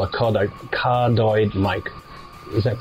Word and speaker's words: cardioid: because the mic is what they call a cardioid mic. Is that pronounced properly? Cardioid?